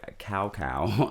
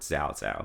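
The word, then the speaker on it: Cao Cao: So if you've never played this game and you're watching this guy used to be called Lord Cow Cow, and now he is called Lord Zhao Zhao.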